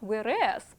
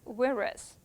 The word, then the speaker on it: whereas: And the pronunciation, guys, it's not whereas, right? It's whereas.